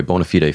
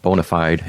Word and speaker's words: bona fide: is by the way bonafide finance bonafide or bonafide as you might say in anglo but we pronounce it bonafide in latin because i have a latin background so bona fide finance